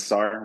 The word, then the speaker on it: Sahr: Once again, my name is Sahr, rhymes with car.